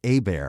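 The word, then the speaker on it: Abear: bear a bear dude it's my last name it's pronounced a bear when I was put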